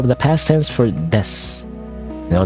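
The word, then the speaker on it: です: No, not desu. Des. Unless you're like for some reason like a new anime girl, then you go desu for some reason. I don't know why, but actually you're supposed to pronounce it as des.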